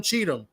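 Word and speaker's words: Cheatham: Cheetum, right?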